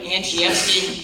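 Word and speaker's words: Andrzejewski: thank you so much my name is anesi it's a very difficult to pronounce polish last name I want you to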